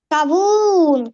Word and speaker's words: кавун: слово кабун погукай Його кавун кавун кавун так куди падає наголос на перший чи на другий склад на другий на другий